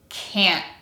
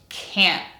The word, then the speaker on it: can't: And two, the letter T will be pronounced as a glottal stop. Listen to me as I say the word can't. One more time, can't.